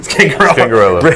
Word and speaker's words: Scangarello: How do you pronounce that? Scangarello? Scangarello.